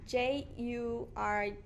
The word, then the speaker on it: Jurguen: Okay, you might want to spell that, or is that something? It's Jurguen.